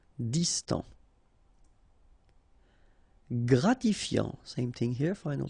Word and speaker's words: distant: Distant. Final T not pronounced. Distant.